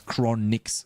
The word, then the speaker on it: Chronikz: It's Chronix, Sven.